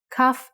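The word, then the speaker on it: כ: Kaf actually is only pronounced like K when it has a dot inside. Just like Bet only has the B sound when it has this dot. Without the dot, it sounds like Ch. Chaf.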